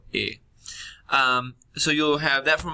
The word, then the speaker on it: he: Remember, of course, that the H is silent, so you can ignore that. So, it's not yo he, but yo he.